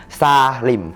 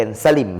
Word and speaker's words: ซ่าหริ่ม: ขนม ชนิด นี้ เนี่ย เรียก ว่า ซ่า ริม ฝ้า ริม หรือ อีก คำ หนึ่ง ก็ คือ ซาวริ่ม ซาหริ่ม แต่ ว่า เรา ชอบ ออก เสียง เป็น สลิ่ม สลิ่ม สลิ่ม อัน นี้ ผิด แน่ นอน ฮะ เด็ก ๆ ถ้า